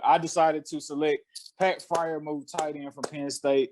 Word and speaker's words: Freiermuth: from Penn State, Pat Freiermuth. Forgive me if I'm saying your name wrong, dog. But yeah, Pat Freiermuth. Fryer. Freiermuth. Get it right.